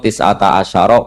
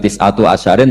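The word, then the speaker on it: تسعة عشر: Padahal itu jadi mubtada muakhar aliha iku tetep ing atase neroko tisata asyaro utawi 19. Tetap bacanya bukan tisatu asyarin tapi tisata asyar.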